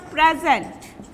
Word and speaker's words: present: Or suppose in case of present, When it is noun, you will give prominence in the first syllable, then you will pronounce it loudly the first syllable.